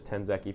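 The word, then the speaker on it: tenzki: My favorite name in this game is definitely Tenzeki, or however you say his name. I'm pretty sure I learned it was Tenzeki from people from Norway watching.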